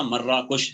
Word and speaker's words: مراکش: اس کا نام ہے، جس کو آج کل اس کو ہم اردو میں مراکش کہتے ہیں یا مراکش کہتے ہیں۔ صحیح تلفظ اس کا مراکش، صحیح تلفظ اس کا مراکش ہے۔ اور یہ مراکش اصل